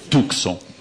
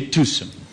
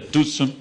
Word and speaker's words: Tucson: Nunca direi Tucson de novo, como as pessoas comuns, a gentalha fala pela rua, Tucson. Eu direi Tucson. E cada vez que eu comer este C e der essa guspida discreta, Tucson, eu lembrarei que havia